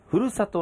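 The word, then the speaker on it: 読谷: け継ごうふるさとの心、読谷と書いてふるさとと読みますけども、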